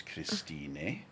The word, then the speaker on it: Christine: here christine but we pronounce the e so it's christine and we also have